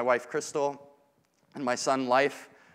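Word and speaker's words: Leif: Crystal, and my son, Life. Life is pronounced or spelled L-E-I-F, and I say, this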